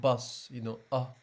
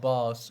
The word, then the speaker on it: bus: Bus, bus, because Bus. you pronounce it like boss or something, but it's bus.